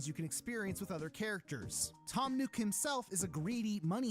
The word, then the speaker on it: Tom Nook: to address this but his name is pronounced Tom nuke and not Tom Nook the game does not